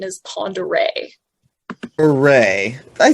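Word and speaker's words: Pend Oreille: hanging from the ear and the corrector and pronunciation is panda ray hooray i said okay not the fun what's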